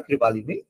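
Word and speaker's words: কৃপালনী: এটা বলেছিল যে কে করেছিল আচার্যালি জেবি কৃপ্লিয়ানী কৃপ্লানী বলা হয় কৃপালিনী ঠিক আছে এটা উচ্চারণে কৃপালিনী উচ্চারণ করি একচুয়ালি নাম হচ্ছে কৃপ্লানী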